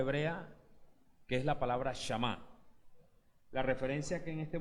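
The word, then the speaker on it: שמע: Esta palabra Shama tiene como significado, así como se escribe, así como se escucha, Shama, como si fuese a decir Shema, pero cambia la E por la A.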